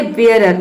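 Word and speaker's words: bearer: अगला है यहाँ पे देखिए बेयरर, अब यहाँ पे देखिए ईयर प्रोनाउंस कर रहे हैं, ई ए आर को ईयर प्रोनाउंस कर रहे हैं, ये होता है बेयरर।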